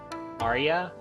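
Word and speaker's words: Ariya: a r i y a how do you pronounce it Arya ARA yeah okay Arya sh small strong and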